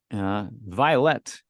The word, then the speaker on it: Violet: I just say it like the color, but I've heard all sorts of ways to pronounce it.